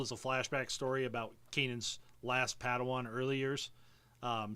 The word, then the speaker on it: Kanan: or this is just Canon is not how you pronounce his name is it Kanan or Canon Kanan okay Kanan the last Kanan jarus